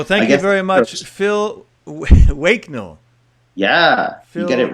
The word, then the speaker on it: Waknell: So thank you very much, Phil Waknell. Yeah, you get it right. Waknell, the co-founder of Ideas on Stage.